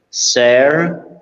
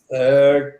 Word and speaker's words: Serge: Can you tell us pronounce your name the way you pronounce it for us all, please? Okay. Once again, Serge. Serge.